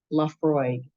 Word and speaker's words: Laphroaig: Laphroaig is how you pronounce that business.